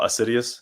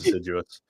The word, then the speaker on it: assiduous: we're idiots so we just we said oh assidious sounds cool apparently it's pronounced assiduous but so we went with that so assidious